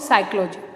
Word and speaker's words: psychology: unit का meaning of साइकोलॉजी जितने भी हिंदी मीडियम वाले स्टूडेंट्स हैं ध्यान दें साइकोलॉजी की स्पेलिंग पर इसमें पीस साइलेंस ओके अब हम देखते हैं